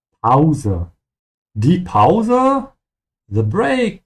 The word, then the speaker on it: Pause: Make sure you pronounce it in German with an au sound. Pause.